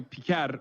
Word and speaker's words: Piker: Hasan Piker. What is he even saying? Pecker. Oh, he called him Pecker, but it's obviously Piker. Yeah, it's not even like a Turkish sounding last name. Yeah. It's normally Piker, but still, like, it's pretty funny that he's